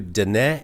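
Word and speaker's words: Diné: Well, they can go to Da Avenous Radio and that's spelled I'm have to spell it for you because it doesn't sound like it looks.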